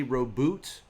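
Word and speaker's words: Roboute: Most people, if you're trying to say it correctly, yeah, exactly, like sort of French, maybe related in some way. Most people say Roboot for the first name.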